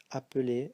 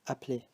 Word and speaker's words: appeler: And you see that in the infinitive there is just one L here, so the E before is pronounced as a schwa, just like here, so we say appeler, and just like here, if we speak fast, sometimes we just say appeler, so you don't hear this.